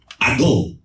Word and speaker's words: ago: from Strong's Greek Lexicon g71 I go it is spelled a g o but this Greek word